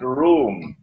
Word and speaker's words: روم: This is his prophecy, that Muslims are going to form an alliance with Room. It is pronounced as R-O-O-M, Room, but the Arabic word Room is, it describes Eastern Christianity.